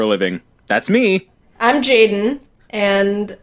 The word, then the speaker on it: Jaiden: I'm Jaden, and I... Jaden. My habit is to, like, say my name, but not the E, so it's like Jaden.